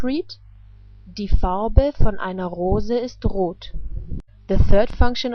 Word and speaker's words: Rose: The color of a rose is red. The word for rose is the same in German, but is just pronounced differently.